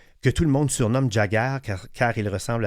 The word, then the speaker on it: Jagger: Alors, je veux vous parler du film Yossi et Jagger. Ça s'écrit comme ça se prononce, Y-O-S-S-I, et Jagger comme Mick Jagger, du réalisateur Eitan Fox, un cinéaste gay israélien né à New York.